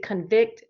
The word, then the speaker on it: convict: at the second one listen to how i pronounce it jury members should convict the defendant of robbery jury members should condemn the second syllable so everybody repeat after me convict convicted okay now we're gonna say both of